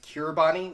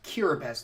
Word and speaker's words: Kiribati: BES okay what that why is there a T in there and an i if it's gonna be pronounced cure best but just doesn't make